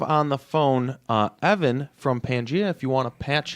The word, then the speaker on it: Pangaea: a little bit about Pangaea oh wait first off are we pronouncing that correctly P you are pronouncing it correctly yeah the prehistoric formation